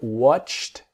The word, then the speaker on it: watched: So watched him is a t watched.